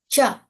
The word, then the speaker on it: ca: Cha. We Cha, pronounce C okay. as cha here.